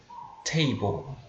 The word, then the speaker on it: table: E detalhe, a pronúncia de table. A gente tende muitas vezes a pronunciar table, né? Com o T bem fraquinho, né? Table. Só que isso não está tão correto, né? A forma correta de você pronunciar essa palavra é você forçando o T. Você tem que pronunciar o T como se o T fosse soprado.